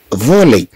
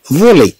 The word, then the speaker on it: voler: إذا نتكلم عن le verbe اذا le verbe voler اذا هاد ار تنطق اي ننطقها voler لا ننطقها voler بل ننطقها voler.